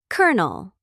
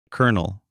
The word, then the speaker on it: colonel: Colonel. Colonel spelled C O L O N E L but pronounced kernel like the kern of a corn.